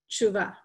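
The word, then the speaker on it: תשובה: Because if you hear an Israeli say it, somebody who actually speaks Hebrew, it'll sound like they're saying tshuva, tshuva. Because of the way that the syllables are run together there.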